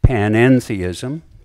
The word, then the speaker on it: panentheism: of the word god this is panentheism note the mid middle syllable Ian it's a Greek preposition and it distinguishes panentheism from pantheism